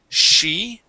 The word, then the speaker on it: she: All right, let's go to the word she, okay. She. Uh, yep, here you were. Excuse me, you were pronouncing the CH sound, saying chi. Okay, this is Okay. she. She. Very good.